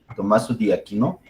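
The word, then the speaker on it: Tommaso d'Aquino: Su nombre real es Tomás de Aquino, pero es un nombre italiano que busqué la pronunciación y es Tommaso di Aquino.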